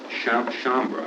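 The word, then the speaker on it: Sciambra: two memos that had been prepared by Mou Chambra, I think his name is pronounced, spelled S-C-I-A-M-B-R-A, an assistant district attorney, one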